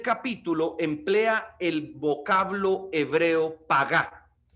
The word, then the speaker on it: pagá: emplea el vocablo hebreo pagá pagá es un vocablo hebreo que se escribe p a G de gato y a de Andrés tildado p a g a pagá Qué significa influir con